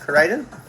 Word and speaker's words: Koraidon: I think it's Koraidon. Is that how you say it? Yep, Koraidon.